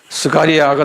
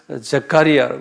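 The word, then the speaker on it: Zechariah: 제가 이거다 영어로 적어놔서 내가 한국말 발음이 좀 힘들어요. 이 영어로 스가리아가 15번째는 스가리아가 아니고 제카리아라고 그랬어요.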